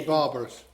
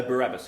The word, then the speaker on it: Barabbas: I think that must be barbarous. No, Barabbas, yes.